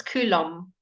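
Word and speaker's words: Coulomb: however just to make you very confused it's kulum kulum and that's a scientific term you can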